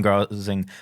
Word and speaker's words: Gosling: Ryan Gosling plays a new Ryan Gosling. Sorry. Gosling. That's how you pronounce his name.